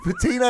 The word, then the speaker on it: patina: it's just a thick patina um so don't worry i personally don't but patina is three syllables you lunatic when people go big